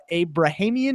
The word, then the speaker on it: Abrahamian: Melissa, you were the highest on Paul Abrahamian, I believe is how you say his last name.